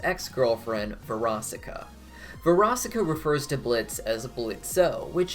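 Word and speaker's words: Blitzø: veracica varaska refers to blitz as a bullet so which is how he used to pronounce it before he started claiming the o is silent at some point likely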